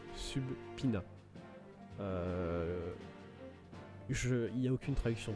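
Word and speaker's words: subpoena: Alors, je sais que c'est écrit Subpina. D'ailleurs, oui, ça se prononce Subpina.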